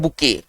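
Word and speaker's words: bouquet: English में कहते हैं बुके बुके इंग्लिश में ना इसको कहते हैं बुके अब बुके का स्पेलिंग थोड़ा सा उच्चारण के अनुसार स्पेलिंग नहीं है उच्चारण है बुके लिखते कुछ और है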